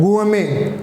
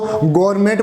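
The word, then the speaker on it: gourmet: Next is इसका pronunciation होता है गुएमे, कई इसको गवर्नमेंट बोलेंगे, इज नॉट गवर्नमेंट, इज द गुएमे।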